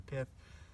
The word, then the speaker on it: pith: you want to split this is called the pit or the pipe sometimes they pronounce it but it's mostly the pith the center of the